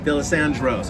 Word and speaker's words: Dalessandro's: How do you pronounce it? Dalessandro's? Dalessandro's.